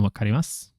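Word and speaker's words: 分かります: Do I not pronounce the U? Oh, you mean on wakarimasu, right? On all these, you're asking, do I pronounce the U on all of these like verbs that end in what is spelled as MASU, right? For all of those, we don't say the su. We just say must.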